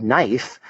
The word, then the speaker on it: knife: doesn't follow phonetic principles the word knife is not spelled ni F which is how a dyslexic would spell it it's KNN because of that silent k rule there's something called speeded